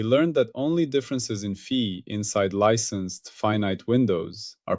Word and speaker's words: phi: Fee, spelled fe pronounced fee.